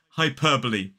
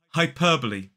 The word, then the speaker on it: hyperbole: Bowl, but this is hyperbole. 4 syllables, the stress falls on the second. Repeat after me. Hyperbole.